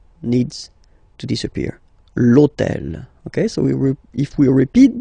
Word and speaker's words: l'hôtel: H, but remember that in French we don't pronounce H, okay, so basically the first sound of the word is the vowel O, okay, so for the same reason, E needs to disappear, l'hôtel, okay, so if we